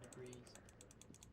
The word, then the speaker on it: debris: The hallway is blocked by old window panes and debris. Debris. You don't. The S is silent.